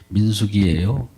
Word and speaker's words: 민수기: 2장 32절 말씀을 보았습니다만 민숙이니까 민숙 민수기예요 발음은 어떤 여자 이름 같은데 민수기 그 여자 이름이 아니라 민수기예요 수요를 샜다는 거죠 계수했다는